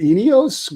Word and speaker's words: Ineos: Oh, like I'm going to be able to pronounce All that. right. There's too many vowels. All right. It's called the Ineos Grenadier.